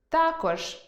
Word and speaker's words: також: Наприклад, алфАвіт – алфавІт,веснЯний – веснянИй,зАвжди – завждИ,зокрЕма – зокремА мАбуть – мабУть, пОмилка – помИлка, тАкож – такОж, яснИй – Ясний Будьте пильними: інколи зміна наголосу призводить до зміни значення слова.